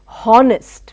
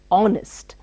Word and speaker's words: honest: Don't say honest, we say honest. O is pronounced.